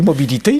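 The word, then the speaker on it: Mobili-T: C'était pas ça, on dit mobilité, là, mais ça s'écrit de cette façon-là.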